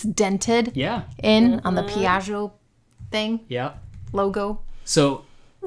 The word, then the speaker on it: Piaggio: And he said when he was young, he had a Piaggio. And Giovanni, am I pronouncing that correctly?